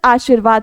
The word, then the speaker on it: आशीर्वाद: और रेफ की मात्रा हमेशा अपने से पहले वाले अक्षर का पर उच्चारण देती है। हमेशा अपने से पहले वाले अक्षर पर उच्चारण देती है। तो याद रखिएगा अगर हम इसको पढ़ेंगे तो ये रेफ की मात्रा पहले वाले अक्षर पर उच्चारण देगी। यानी कि ये आड़शीवाद कहलाएगा ना कि आशीर्वाद कहलाएगा। जबकि अगर आपको शुद्ध आशीर्वाद शब्द लिखना है तो वो कुछ इस तरह से बनेगा।